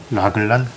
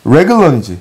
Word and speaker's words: 레글런: 라글란? 랭그런? 레글런이지. 근데 이거 나 진짜 아까 그 단어에서 좀 잘못 하고 있다라는 걸 말한 게, 이게 가끔 이게 한국에서 우리 어르신들이 어떻게 발음하냐면 나그랑 이렇게 발음하거든.